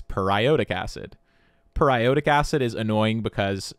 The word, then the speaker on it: periodic acid: why don't we put it into D tier periodic acid which is not how this is pronounced actually it's periodic acid periodic acid is annoying because we talk about